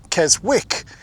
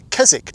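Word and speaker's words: Keswick: If you were to pronounce Kzzik as it is written, you would say Kzwick. In fact, many foreigners, particularly Americans, do make that mistake. But it's Kzzik, not Kzwick.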